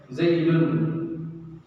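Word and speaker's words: زَيْدٌ: Kata beliau, nunnya ini diucapkan ketika waslil kalam, ketika disambung ucapan. Kalau antum sambung, maka nunnya kedengaran. Zaidun. Kalau waqaf tidak kedengaran zaid.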